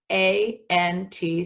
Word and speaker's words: aunt: A-N-T spells ant. And this is spelled differently than the ant, like your aunt and uncle. Some people say aunt, some people say ant.